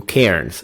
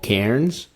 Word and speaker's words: Cairns: extended my trip Beyond just business um to Cairns so if you are thinking about diving the